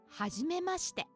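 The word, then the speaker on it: はじめまして: Tanaka said, はじめまして。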